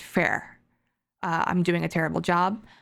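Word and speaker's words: fëa: an incarnate being okay it's spelt like fear but pronounced fair i'm doing a terrible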